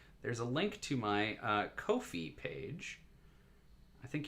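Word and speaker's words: Ko-fi: a link to my kofi page i think you're supposed to pronounce it coffee but it's really not spelled like coffee which is a voluntary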